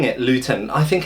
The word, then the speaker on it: Lieutenant: and that you know if we spell it Lieutenant we should say it Lieutenant so for once maybe